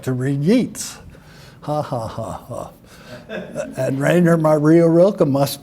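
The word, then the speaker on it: Yeats: someone well I really would like to read yeets haa and Rainer marioa must be a woman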